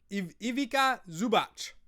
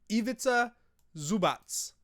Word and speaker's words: Ivica Zubac: Someone asked me about the European guy, Zubac, Ivica Zubac. Love it. Back of the bench to center stayed. Show me how to pronounce it. Ivica Zubac.